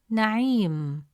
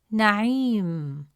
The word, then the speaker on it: نعيم: comes immediately after عي, it stretches the short E sound into a long E sound. Instead of pronouncing it as عي, the presence of ya makes it عي. As a result, the correct pronunciation of the word is نعيم, نعيم.